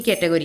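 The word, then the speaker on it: coat: गोट, बोट, कोट, सी ओ ए टी, कोट, A omit हो रहा है, कोट।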